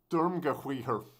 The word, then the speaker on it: Sturmgewehr: Reason being is that SG stands for, how do you pronounce this? Sturmgewehr.